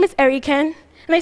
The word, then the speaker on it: Erikan: taxi drivers I tell them my name is erican and they say ah era you're Americana no